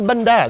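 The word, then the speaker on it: bánh đa: This is bandana. Bandana. It's like bandana Ah, without all the extra syllables.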